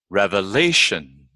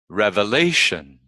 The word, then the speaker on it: revelation: But all you have to know is that we stress the second syllable from the end in words ending in IC, SION, and TION. Geographic, geographic. Revelation, revelation.